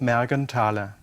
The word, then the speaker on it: Mergenthaler: my ludwig Mergen tyler the th is not pronounced it's just Merrigan tyler he was a watchmaker